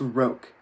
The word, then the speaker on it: roque: It's pronounced roke, Daddy was saying.